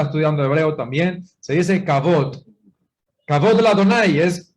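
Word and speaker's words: כבוד: Cabot. Cabot se dice de esa manera. Así es Sajot Gabriela, mire, Sajot Gabriela está estudiando hebreo también. Se dice Cabot. Cabot de la Adonai es gloria al soberano. Cabot de la Adonai, Yahweh.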